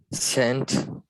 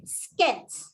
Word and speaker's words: scent: Scent. Very good. Scent. Scent. Because some of you who don't know will read this as scent, which is wrong because of the soft C rule.